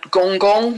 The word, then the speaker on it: Gonggong: Um we also have the dwarf planet Gonggong, which I squeezed in, which is spelled all one word, Gonggong.